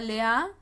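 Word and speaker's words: לאה: de lea lea cuyo nombre en hebreo se pronuncia lea y su nombre se escribe así como lo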